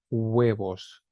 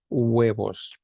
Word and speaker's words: huevos: So we have huevos, huevos. Remember the H is silent in Spanish, so we don't pronounce it with, so that's like mute, huevos.